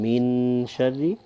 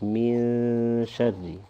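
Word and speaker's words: مِنْ شَرِّ: So you won't pronounce a full noon here saying min sharri, but it'll be more from the nose, min sharri, kind of like a soft ghunna.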